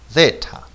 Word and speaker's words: zeta: How to pronounce this letter? Okay, solution, zeta.